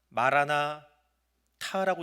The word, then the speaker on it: 마라나타: 마라나타, 이 단어는 아람어 두 개를 합쳐서 만들어 놓은 단어입니다. 마라나타라고 읽을 수 있습니다. 타를 뒤에 따로 하나 빼서 발음을 하는 경우입니다.